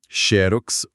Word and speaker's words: Xerox: e para mostrar que nem a própria norma é tão rígida, existem palavras que admitem dupla pronúncia correta, como acróbata ou acrobata. Xerox ou xerox.